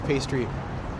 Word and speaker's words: pasty: When visiting the UK, visit Cornwall and try a real Cornish pastry. Pronounce the A like apple.